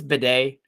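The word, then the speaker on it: Badie: little scratchy he says is Tyler's name pronounced ba batty or Beday he said it's bed um it's obnoxious um yeah when he's h on the sidelines it's bedet uh he went by baddy for a bit but he did an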